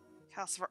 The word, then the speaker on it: Calcifer: He's saying it right. Okay. Yeah, because I don't know why it reminds me of Lucifer.